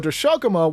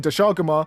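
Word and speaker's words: Doshaguma: sessions next we have daguma or Das Shaga which is actually the correct way to say it I've actually seen a few comments roast in Paradise for saying Daga but that's how it's actually said in game and by the developers so listen to this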